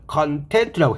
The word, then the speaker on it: content: 함유량 콘텐츠 의미가 되었고 형용사와 동사일 때는 발음을 컨텐트라고 해서 얘가 필요한 것을 함께 갖고 있는 것이 형용사일 때는 만족하는 그리고 동사일 때는 만족하다 만족시키다 의미가 되었습니다.